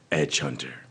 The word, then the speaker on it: Edge Hunter: You said it wrong. It's Edge Hunter.